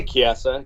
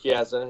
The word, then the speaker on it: Chiesa: You could say Chiesa. Chiesa's fine. Chiesa. It doesn't matter. Chiesa. So we're really going for the subtle, the way you pronounce it. Yeah. That's good. I mean, I'm so used to Chiesa.